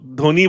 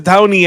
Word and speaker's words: Dhoni: time all this time तो इट्स एमएस धाऊनी actually it's नॉट एमएस धोनी धाऊनी गलती से school